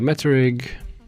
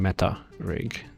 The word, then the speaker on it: meta rig: uh which I know I always say so quickly that it sounds like I'm saying met rig um but I'm saying meta rig just under pronouncing it a little bit okay so how was